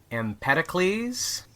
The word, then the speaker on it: Empedocles: Um I believe that it is uh named after the uh the Greek philosopher um Empeticles.